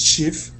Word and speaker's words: chief: Police chief. There you go. Police chief. Police chief. Yep. Um Okay. Yeah. Just to let you know that um ch is chi, not she.